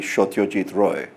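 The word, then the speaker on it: Satyajit Ray: Bengali is Oh poo in the way that such a deed ray is actually shot your teeth Roy but never mind anyway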